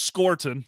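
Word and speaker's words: Scourton: Detroit yeah and uh scorton for me it's scorton looked up his official pronunciation so apologies on the first round there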